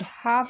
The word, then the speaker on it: half: and pronounced differently example in the word half is pronounced with l as silent so these are some